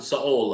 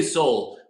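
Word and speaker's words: Seoul: and you pronounce it Saul. I believe that's a proper pronunciation of the capital of Korea, North of of South Korea. Soul Korea. We say Soul, but you pronounce it Saul.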